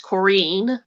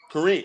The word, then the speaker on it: Corinne: going to learn about her stand-up comedy today corinne martinez welcome to the show oh thank you it's actually pronounced korean korean okay very good thank you for letting me